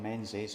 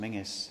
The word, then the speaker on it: Menzies: This is the portrait of John Menzies, or pronounced Mingus in this part of the world.